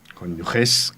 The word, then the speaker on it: cónyuges: Es lo que se dice, que es de los cónyuges con G, cónyuges, con esta G pronunciada como Gerona, los cónyuges y Dios en medio.